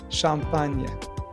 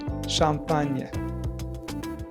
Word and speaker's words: champagne: This is usually pronounced like the ni in onion. Ni, ni. It's like NY blended into one sound. For example, champagne, Espagne.